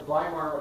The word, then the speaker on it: Weimar: to wait one second one other comment the vlaimar republic again german pronunciation w's are pronounced as these so that's the explanation for the pronunciation the weimar republic is the republic that was formed after